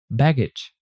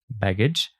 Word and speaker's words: baggage: look at the word baggage how are G G and G e pronounced so g g is pronounced like G baggage and g e is pronounced like J there are two different